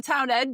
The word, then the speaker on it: Townend: I know Oliver It's not Townend. Ruddle as in puddle. It's not Ruddle as in puddle. Rudel for poodle. Right. Oliver Townend, yes. Oliver Townend. Thank you, Lucy. Yep, Oliver Don't Townend.